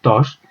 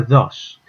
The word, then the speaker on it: tos: Es el caso, por ejemplo, de la palabra tos. Si esa T, el aprendiz, la pronuncia de forma más relajada, pues en lugar de sonar tos, sonará dos.